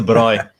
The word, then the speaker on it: braai: Is that how you pronounce it? Yeah, it's a braai.